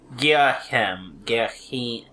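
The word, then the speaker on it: Ghirahim: put some emphasis on the H, like a cool whip.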